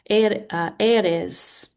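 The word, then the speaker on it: Ares: Aries, god of war is irez.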